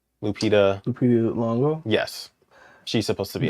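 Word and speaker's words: Lupita Nyong'o: And they're coming out with a new one with how do you pronounce her name? Lupita. Lupita Longo.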